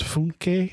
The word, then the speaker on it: Funke: It's his name is Funke, I believe is how it's pronounced.